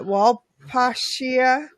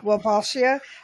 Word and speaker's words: Wolbachia: How do you pronounce that? Wolbachia. Yeah. Wolbachia.